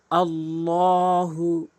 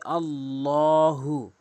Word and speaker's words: আল্লাহ: আল্লাহু অধিকাংশ লোক আল্লাহু বলে আল্লাহু বলা যাবে না। আল্লাহু এখানে নিয়ম রয়েছে আল্লাহ শব্দের ডান পাশে যদি জবর দেখেন অথবা পেশ দেখেন তাহলে ল হবে।